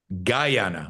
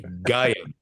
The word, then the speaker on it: Guyana: And all right, I'm being told I'm mispronouncing it again. Guyana. Okay, thank you. Guyana.